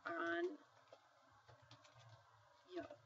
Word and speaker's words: año: So a word in Spanish would be año, and you might pronounce it as, because of that N with a tilde over it, you might pronounce this word like this, on yo. Okay, so you hear that NY on yo. That's how you make that's how you pronounce the N with a tilde over at the NY.